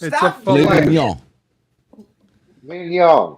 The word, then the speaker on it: mignon: Mignon. It's filet mignon. Mignon. Mignon. So I'm saying that. Mignon. Do not pronounce the G.